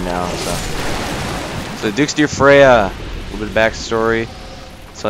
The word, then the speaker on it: Freja: used to be a dragon so Duke's Dear freisia or Freya sorry I know how to pronounce its name now so Duke's Dear Freya a little bit backstory so yeah after I